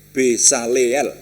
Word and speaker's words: Besaleel: Saya membacanya beselael ya. Dan Aholiab bin Ahisamah ya. Jadi Besaleel ya tepatnya, Besaleel bin Uri bin